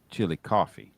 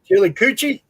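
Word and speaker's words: Chillicothe: actually it's actually spelled chili coochi but it's pronounced chili coffee chili coochie little spicy huh chil chili coochie it's Chile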